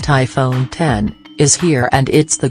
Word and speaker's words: iPhone X: iPhone X REVIEW: Apple Price is the BIG problem despite great smartphone screen and camera Apple’s all-new iPhone X (it’s actually pronounced iPhone 10) is here and it’s the greatest smartphone the US tech giant has ever made.